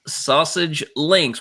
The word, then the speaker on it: SASG Links: Yes, it is pronounced Sausage Links.